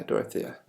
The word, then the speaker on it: Dorothea: Yeah, Dorothea.